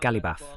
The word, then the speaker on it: Ghalibaf: ¿He pronunciado bien el nombre de Ghalibaf? Sí, Mohammad Ghalibaf.